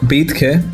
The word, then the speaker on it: Betke: He's called Jakob Betke.